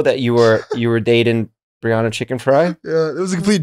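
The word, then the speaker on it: Chickenfry: Chicken Fry?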